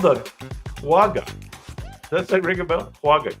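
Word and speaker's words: quagga: like that but that's incorrect it's called the quag that ring a bell quag quu a g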